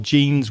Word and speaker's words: genes: Now, I don't mean the jeans that you wear, your trousers made of denim, although the pronunciation is exactly the same. I'm speaking of genes with a G, so it's Genes, your genes, the genetics that you inherit from your parents, your grandparents, etc.